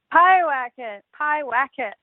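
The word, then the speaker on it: Pyewacket: Pie Wacket. I said it right. Like eating a pie and then whacking it.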